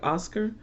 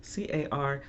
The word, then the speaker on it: Huascar: It looks like Oscar, but it's Huascar, Medina.